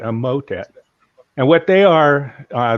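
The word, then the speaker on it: Emotet: this down um in e-m-o-t-e-t so i'd pronounce that a motet and what they are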